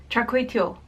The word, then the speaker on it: Char Kway Teow: I think I've been mispronouncing this dish the whole time. It's more like Char Kway Teow, right? Char Kway Teow.